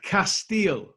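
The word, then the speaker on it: Kasteel: called guys how do we how do we pronounce it it is castile which just means the castle and one of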